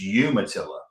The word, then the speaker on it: Umatilla: It's um it's Umatillaa and I know Penguin told you to pronounce it the other way.